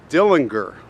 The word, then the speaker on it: Dillinger: now by the way his name pronounced by the family is Dillinger but we're going to use Dillinger like everybody else and he's staring at